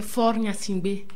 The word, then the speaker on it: Faure Gnassingbé: Alors tout d'abord, le président togolais, Faure Gnassingbé, c'est bien comme ça qu'on prononce? C'est Faure Gnassingbé.